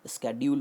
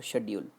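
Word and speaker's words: schedule: Is correct, स्केड्यूल और शेड्यूल? Friends, दोनों ही सही हैं। शेड्यूल और स्केड्यूल दोनों ही सही हैं। स्केड्यूल एक अमेरिकन प्रोनाउंसिएशन है और शेड्यूल एक ब्रिटिश प्रोनाउंसिएशन है।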